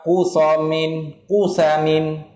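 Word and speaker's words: Qutham: Kusam ni baca mana? Bil qafin, dengan huruf qaf madmumatin yang didhammakan. Fa musallasatin maftuhatin, kemudiannya dibacakan orang panggil sa yang dibari fathahkan. Artinya Kusam. Kusam lah.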